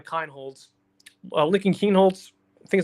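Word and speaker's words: Kienholz: It's a guarantee Lincoln Keenholds and that's how you say his name Kinholtz Lincoln Keen Holtz I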